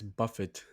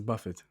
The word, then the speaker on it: Buffett: have elon musk overtakes buffett not buffett wait is it buffett yes it's buffett i was about to mispronounce and say buffet he's got actually i